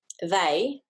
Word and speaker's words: they: word down here and another example is in they th represents its usual sound and then we've got a more irregular representation of the a sound we've got e y instead of a y and i know that